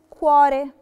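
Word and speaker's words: cuore: كواري، كواري نطقناها تشيدورا علشان جه وراها الفوكالي او، فبقت كواري يعني قلب.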